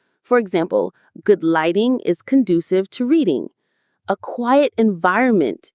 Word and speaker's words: conducive: Conducive. Conducive. Stress on this second syllable.